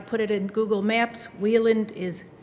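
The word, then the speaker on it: Wieland: And for those of you that might want to put it in Google Maps, Wheeland is spelled W-I-E-L-A-N-D.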